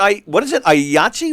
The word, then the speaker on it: IATSE: Yahtzee? What? The union IATSE, IATSE. Oh, I always saw the Association of initials. States. Yeah, I always saw the initials. I didn't know that's how they pronounce it, so I got thrown there.